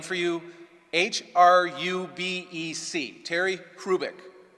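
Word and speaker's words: Hrubec: H-R-U-B-E-C, Terry Hrubik. The H is not pronounced, Terry Hrubik.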